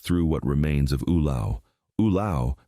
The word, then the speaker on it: Ulao: Ulao, pronounced U-lay-o, was a working port on Lake Michigan founded in 1847.